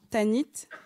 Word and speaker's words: Tanit: Balchamim et ensuite tanite tanite. Il y a T à la fin.